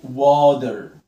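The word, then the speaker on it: water: الاي لما يجي وراها دبليو بنطق الاي او. بص كده معايا وا واز ها وا وانت ها وا واش ها وا واتر، والتي جايه من حرفين متحركين هنطقها فلاب تي واتر واتر واتر واتر.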